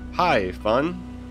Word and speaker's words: Haifan: three times all right haifan says it's a long story but to make it short you can say it like hi fun but then there is